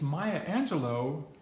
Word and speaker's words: Maya Angelou: be doing that and since Maya Angelou rhymes with Michelangelo let's read what she